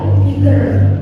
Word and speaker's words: bigger: Big itu besar, lebih besar, bigger, double G ya, bigger. Paling besar, biggest. Paling besar itu biggest. Ya. Jadi tulisannya double tadi bocok apa ya, bacanya cukup single ya.